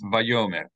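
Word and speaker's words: ויאמר: So is it Vayomer? It is it's Vayomer, that's right, Vayomer.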